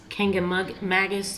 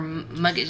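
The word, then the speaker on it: Kancamagus: Is called, we're not sure how you say it, Kangamagis, yeah. Or Muggus, yeah.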